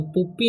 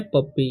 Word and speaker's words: puppy: ठीक है, तो पुप्पी नहीं पढ़ना है, क्या पढ़ना है? पप्पी। यू का उच्चारण यहाँ पर अ हो रहा है। ठीक है, तो इसे पढ़ेंगे हम पप्पी।